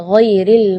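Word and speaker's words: غَيْرِ: ya, ghairil maghdubi ya, perlu diperhatikan bukan G, bukan huruf G ya, bukan ga, tapi gha. Jadi kalau ga itu dia makhrajnya dari lidah. Ya, tapi kalau huruf ghain itu dari bagian tenggorokan ya. Jadi gha.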